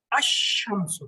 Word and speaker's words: الشمس: کے ملاتے ہیں، جیسے الشمس، لیکن اس میں القمر میں لام کا تلفظ ہو رہا تھا، الشمس میں لام کا تلفظ ہی نہیں، لام کو کوئی لفٹ ہی نہیں کرا رہا، تو ڈاکٹر جو ہے